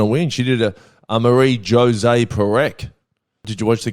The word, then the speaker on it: Marie-José: By the way, I'd pronounce it Marie-José.